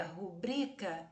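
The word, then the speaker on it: rubrica: com a palavra publica essa palavra geralmente é dita como um briga não a palavra correta é rubrika ela é paroxítona não é acentuada EA seguir o dico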